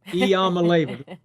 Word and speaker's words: Iamaleava: Get used to the pronunciation of Nico Iamaleava this season. Iamaleava, freshman quarterback.